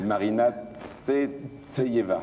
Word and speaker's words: Marina Tsvetaeva: Non, allez-y, prononcez-le. C'est Marina Tsvetaeva.